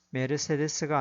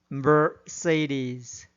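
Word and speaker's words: Mercedes: 사크라테스, 오아시스가 아니라 오에이시스, 메르세데스가 아니라 머세디스로 발음해야 합니다.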